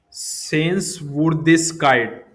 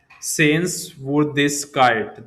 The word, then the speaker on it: Sehenswürdigkeit: Sehenswürdigkeit. This is how you have to pronounce. Here, you have to use umlaut above you. Then, this particular sen- uh letter complete word. Sehenswürdigkeit.